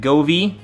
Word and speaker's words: Govee: I think there's, you pronounce it Govee.